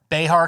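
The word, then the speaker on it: Bexar: 3.7 million Austin 3.1 Behar County you don't pronounce that X right beh I'm assuming uh 3 million Tarant County 2.6 6 million.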